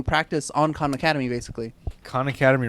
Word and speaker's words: Khan Academy: Khan Academy rhymes with chicanery. If Yeah. you say it the right way, so Chicanery.